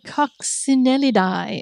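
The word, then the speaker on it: Coccinellidae: Coxinellidi, according to some Italian guy on YouTube who pronounces scientific words for people like me who don't know how to say them. So, Coxinelli is what he says.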